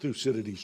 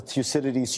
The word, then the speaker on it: Thucydides: Can America and China escape Thucydides' trap?